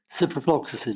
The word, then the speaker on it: ciprofloxacin: And then for, I can never pronounce what Cipro will be. Ciprofloxacin.